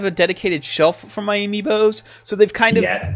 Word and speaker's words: amiibo: I haven't seen his place, but I'm imagining it covered in amoebas. You mean amiibos? But I mean, that's I not. said it in the phonetically correct American way.